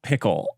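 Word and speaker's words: Pkl: let let's talk about pickle so I learned that PK is actually pronounced pickle now you wouldn't get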